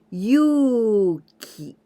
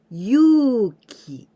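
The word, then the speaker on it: 勇気: But we don't pronounce yu, u, ki. And this u, it is for the longer sound of this u sound. So, yuki, yuki, yuki, yuki, yuki, it means brave, braveness.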